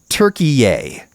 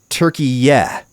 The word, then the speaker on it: Türkiye: They put out a video where the narrator said, Turkey-yay. But the phonetic spelling given in the press release said, Turkey-yeah, which is a totally different vowel.